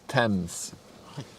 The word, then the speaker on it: Tees: was the biggest in the world tees is pronounced TS you weird UK people I see an a